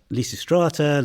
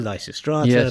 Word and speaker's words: Lysistrata: three I think because we say list in English but the Greek the ancient Greek would have been lucrate and the modern Greek is listata so people say listata lysistrata lysistrata you can say it whatever way you like but we don't know how it was in toned well we do know